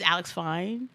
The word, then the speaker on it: Alex Fine: His name is Alex Fine. That's how you pronounce it, and he's Yeah, fine as hell.